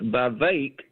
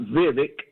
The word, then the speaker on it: Vivek: to pronounce his name it's by vague not Vivek even your morning show